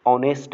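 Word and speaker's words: honest: John जो है एक ईमानदार व्यक्ति है, ऑनेस्ट मैन, यहाँ पर भी प्रोनाउंसिएशन जो होगा मेरा वॉवेल साउंड का हो रहा है, ठीक है।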